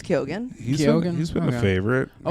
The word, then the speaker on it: Keoghan: I think it's Kyogen.